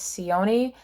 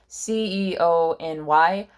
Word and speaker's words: Ceony: I think it's Sione, Ceony. I'm gonna pronounce it Sione.